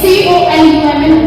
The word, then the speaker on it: column: C O L U M N, column, column only, column.